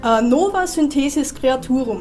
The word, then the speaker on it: Nova Synthesis Creaturum: Wie spricht man das aus? Nova Synthesis Creaturum.